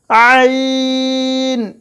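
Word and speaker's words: عين: এটা গলার ভেতর থেকে আসবে এই উচ্চারণটা, আইন, ঠিক এইভাবে।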